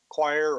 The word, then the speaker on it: coir: of is coir, spelled COIR. It is a roping fiber made from the husks of coconut. About 1 million tons of coir or coir, it's pronounced differently in different places, are produced each year, primarily in India.